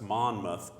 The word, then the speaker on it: Monmouth: Monmouth so if you ever wondered how to pronounce that its Monmouth and we play them on Saturday at 2 p.m.